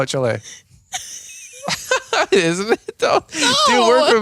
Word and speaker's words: Chile: in Argentina CH Chile Chile um Brazil it's Chile that's how you say it no you don't it's not chili you think it's chili It's not Chile Chile it's not Chile it's Chile CH it's not Chile seriously